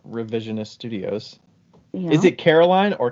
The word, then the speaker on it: Caroline: Is it Caroline or Carolyn? It is Caroline. Caroline. I said it right. You did, because it's spelled line, like a line.